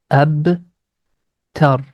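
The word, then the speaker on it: أبتر: A sound going to connect with ba, and the ba is appearing in blue color, which means we have to apply the echo sound. Ab tar. According to the stopping rules, we are going to convert dhamma into a sukun sign.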